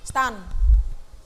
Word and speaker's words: STAN: Stan. Ya, bacanya Stan ya.